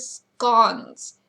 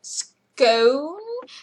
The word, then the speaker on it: scone: Now you're going, Ginny, isn't it scone? No. Okay. So not even the English can agree on this one. They both pronounce it scone and pronounce it scone. So either pronunciation is correct.